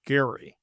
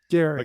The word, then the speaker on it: Gerry: But of course this goes back to the founding Jerry Elbridge Jerry was a founding uh one of the founders. It actually should of course be pronounced Gary Gary because Eldridge Gary